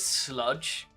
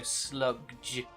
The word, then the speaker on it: Slugdge: It's a band called, I'm going to pronounce it Sludge, but it's spelt SLUGDGE, so Sludge.